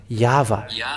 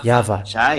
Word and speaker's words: Yahvah: So it is up to you to think when the Hebrew, when it is read in the Hebrew, the yod, hey, vav, hey, is pronounced as Yahvah.